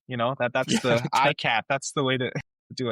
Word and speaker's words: ICAHT: just for the audience if you want to pronounce it correctly imagine a cat holding an iPhone you know that that's the IAT that's the way to do it.